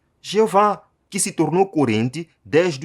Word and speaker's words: Jeová: consoantes do texto hebraico, as vogais da palavra Adonai foram ajuntadas ao tetragrama YHWH. A pontuação das vogais deu lugar à pronúncia Jeová, que se tornou corrente